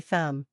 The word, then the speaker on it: thumb: But in natural English, the B is silent. So, we simply say thumb.